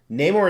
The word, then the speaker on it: Neymar: quick about the pronunciation neymar is how i pronounce it if you don't like